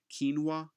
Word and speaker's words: quinoa: Quinoa is how you pronounce that.